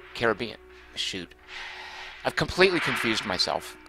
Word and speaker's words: Caribbean: Richard Holt says, "Only Americans say it like I said it. Now I forget how I say it. Caribbean. Caribbean, right. He seems to imply the rest of the world says Caribbean.